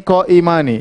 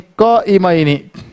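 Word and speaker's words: قائمين: Tidak boleh kita baca kana talibani qaimani. Salah, diketahui sama orang Arab. Salah. Bacanya kana talibani qaimaini. Qaimaini.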